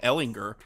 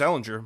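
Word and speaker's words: Ehlinger: Ellinger I then maybe I've been saying it wrong since his days I thought it was Jared too yeah I thought it was alinger but whatever I heard someone say Ellinger on this on like ESPN or something so it's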